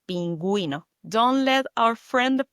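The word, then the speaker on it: pingüino: And when you see an U with dots on top of it, you got to pronounce it like pinguino. Pronounce the U. Penuino.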